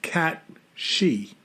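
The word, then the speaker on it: cù-sìth: And some of those stories include that they brought over something called the Cu Sith. So it's Cusith, but they say it's pronounced cat-she. Mm-hmm.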